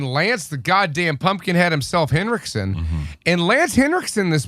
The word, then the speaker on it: Henriksen: When we were watching Lance Henriksen, I said, Lance Henriksen. That's what I just fucking said. You had a D in there.